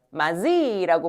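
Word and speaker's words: 맏이: 마지라고 부르죠. 맞아요. 쓸 때는 이렇게 씁니다요. 근데 이게 발음은 어떻게 될까요?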